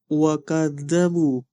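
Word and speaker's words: وكذبوا: Kemudian ada beberapa kesalahan lagi di pertengahan ee yaitu di ayat ee di maaf di ayat 39 yang harusnya waadzabu huruf dza bukan huruf za.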